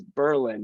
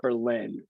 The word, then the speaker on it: Berlin: I used to live in Hudson, Massachusetts, so I know that the correct pronunciation is Berlin, not Berlin.